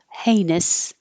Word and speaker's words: heinous: that was so cool and heinous hey all of this HEI sounds like a and the ous just sounds like it or uh heinous heinous that's it on a